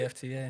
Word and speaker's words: Yefta: It's spelled different. It's spelled. Oh, snap. So you just like Americanized it for us. Yeah, in a way, made it easy. Just made it phonetic. Yeah. Okay. Yefta.